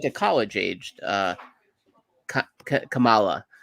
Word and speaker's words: Kamala: She's more like a college aged Kamala, right? That's how you pronounce her name.